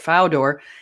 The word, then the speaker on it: Fodor: Now, let's note that even James, I guess he's pronounced Fodor. Okay, I thought it was Fodor, but Fodor.